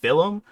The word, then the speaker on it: film: Is he saying film? I'm like, bro, it's film. Film. All right. It's just it's one syllable.